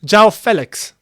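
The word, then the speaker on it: João Félix: press conference say that everyone's saying his name wrong so I gotta respect that Joe Felix is how you actually say his name which is weird it doesn't sound right but this is what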